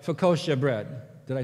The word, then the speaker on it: focaccia: it comes from is it's Italian. And so I pushed the button to hear, how do you say this? And this is how it would sound. Focaccia.